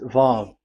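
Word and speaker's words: וו: Vav. So it's V as in Vogue. So it's really V. How to read Vogue? So the word, the shape Vav is really pronounced V, like Vogue.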